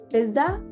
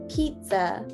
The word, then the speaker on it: pizza: in america as well um but if you pronounce it as bizza that is completely fine that's just because that's